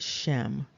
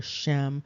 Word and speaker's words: Shem: related to the word Shem coming out of scripture so of course that name does exist and again it's pronounced phonetically as shame uh but the first